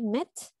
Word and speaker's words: met: Aquí se pronuncia tal cual, como una E, no como una I cuando es doble. ¿Sí? Entonces, my boyfriend and I met at Lick and Write last summer.